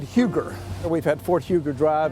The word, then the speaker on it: Huger: is Benjamin eug and he pronounces it yug but he will be